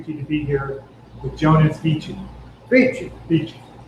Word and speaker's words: Vece: My parents say Vece, just like VC, but I couldn't use it on stage.